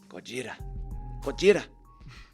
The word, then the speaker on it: Gojira: Godzilla. Gojira. Yeah, and they spell it with a J.